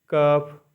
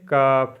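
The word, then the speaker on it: cough: light मतलब रोशनी सी ओ यू जीी एच कफ मतलब खासी खाता कज है पर पढ़ते कफ है खासी अब नंबर सिक्स है एच साइलेंट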